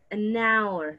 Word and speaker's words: hour: When the H is silent, you are gonna say an hour, right? A house, an hour.